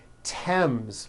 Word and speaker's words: Thames: Although these next words and names are spelled with a TH, they are pronounced as if they were spelled with a normal T, like that. And these words are Thomas, Thompson, Teresa, Thailand, Thames, like the river, Esther, and thyme, which is a spice.